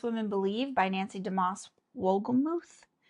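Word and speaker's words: Wolgemuth: Believe by Nancy Damas Wolgamuth is how you say her married name, which her husband passed away this past year, so it was really just kind of sad.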